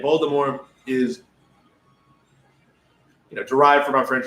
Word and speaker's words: Voldemort: Voldemort, the T is silent, right? Voldemort is derived from our French fame.